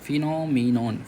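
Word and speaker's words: phenomenon: T Parly a moment next देखते हैं फिनोमिनियन फिनोमिनियन फिनोमिनोन फिनोमिनॉन okay चलो अब इसमें पी साइलेंट होता है ठीक है तो पी एच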